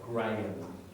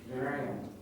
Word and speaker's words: Graham: Now, just pronunciation of that name, that H is silent. Graham. Graham.